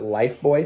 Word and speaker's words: Lifebuoy: called Lifebuoy soap, but they pronounce it Lifebuoy soap.